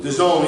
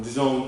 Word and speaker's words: DAZN: The Zone, yeah, I'm sorry, I always pronounce it wrong. The Zone, DAZN, the app.